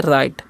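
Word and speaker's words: right: लिखा हुआ है आरटी तो हम क्या पढ़ते हैं राइट यहां पर जीच साइलेंट होता है आई कारण आई होता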